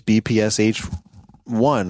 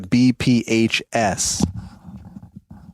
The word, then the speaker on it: BPHS: Hopefully I've been saying it right the whole time. Okay, I just looked at it real quick. It's the BPHS. BPHS. I think I've been saying BPSH, but whatever.